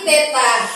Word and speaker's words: theta: Ingat, ini bacanya bukan lingkaran dibagi 2 ya, tapi theta.